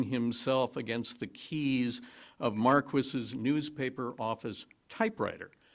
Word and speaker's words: Marquis: that's open to doubt Don Marquis and that is the way he pronounced his name Don Marquis not Marquis Don Marquis was a